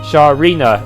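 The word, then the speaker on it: Sharina: not really you see my name is actually pronounced Shah Rina it's an elven name and it has and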